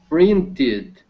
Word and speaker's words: printed: understood thank you print printed because because the the root word ends with the T sound exactly and then and